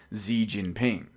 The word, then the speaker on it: Xi Jinping: the president of China, who I believe is pronounced Xi Jinping, the president of China.